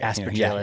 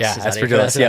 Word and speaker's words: Aspergillus: And so, if there's an Aspergillus failure, let's say. Aspergillus. Aspergillus. Okay. Soft G.